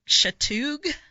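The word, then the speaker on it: Chatuge: forward to that uh Lake chatou I believe is how you say it in Georgia okay so that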